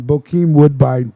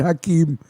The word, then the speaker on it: Bokeem Woodbine: I said his name wrong. Bokeem Woodbine. I said Hakeem.